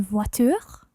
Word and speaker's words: voiture: Une voiture. That's right, une voiture. Voiture. Voiture. Okay, so it's that nice U sound, voiture.